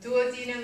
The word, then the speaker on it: duodenum: for the ten and you don't say Dean on Duo because that's not how you put words together into Duos you know so duodenum is the correct pronunciation means ten plus two so please don't say